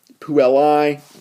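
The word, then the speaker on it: puellae: or more girls with the ae diphthong um that's pronounced i so puella is singular pool i is plural um singular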